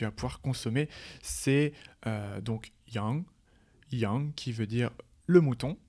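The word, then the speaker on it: 羊: viande que tu vas pouvoir consommer, c'est donc yang qui veut dire le mouton, yang.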